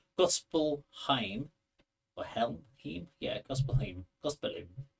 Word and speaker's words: Gospelheim: Gospelheim or Helm?